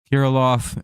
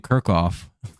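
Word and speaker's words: Kirilloff: be Jeffers K uh kirov where is it kiroff oh no one's ever corrected me and I've been saying his name wrong for a few days now Koloff and uh Margo Jeffers Koloff and Margo I've been saying Kirk off and no one's bothered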